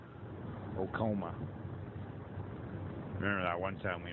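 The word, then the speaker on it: Oacoma: Chamberlain and Owakoma. I'm just joking. That's not how it's pronounced. Okoma.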